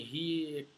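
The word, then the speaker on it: ReaEQ: Esse equalizador nativo do Reaper, que tem esse nome RIA aqui, né? RIA, né? Do Reaper, né? Mesmo jeito que se escreve do Reaper.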